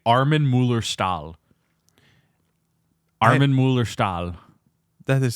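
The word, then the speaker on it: Armin Mueller-Stahl: name is actually I his name is actually Arman Muller stall Arman Muller stall that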